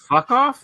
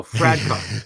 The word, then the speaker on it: Fradkov: Mikhail Fuckoff? Is that his name? Oh, Fradkov. Sorry, I thought it was Fuckoff.